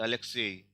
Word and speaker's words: Alexei: For example, Alexei, stress is on ye. So Alexeyevich will be stressed on ye only.